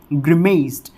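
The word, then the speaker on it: grimaced: तरह ही होगा और पीछे ट वाली साउंड आएगी, बिल्कुल सेम यही प्रोनाउंसिएशन इसका रहेगा, ग्रिमेस्ड, ग्रिमेस्ड, ग्रिमेस्ड।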